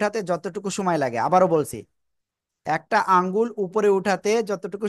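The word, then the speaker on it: ب: ঠিক আছে, বলি। বলেন তো, বা অক্ষরটা কোন জায়গা থেকে উচ্চারণ করেছি আমরা? বা, বা, দুই ঠোঁটের ভিজা অংশ থেকে।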